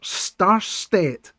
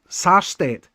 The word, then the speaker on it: Sarstedt: It's Peter Starstedt. Is that right? Peter Starstedt, not Star, Sarstedt.